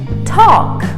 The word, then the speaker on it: talk: say talk or talk the l is silent and the a is pronounced as an o just like in the word walk walk talk our next